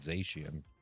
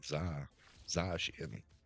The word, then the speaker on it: Zacian: I used to pronounce it Zacian. It's more like Zashian.